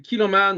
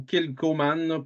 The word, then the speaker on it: Kilchoman: on vous parle du kiloman ou kilkoman pour ceux qui le prononcent pas bien mais le H Mu by the way kiloman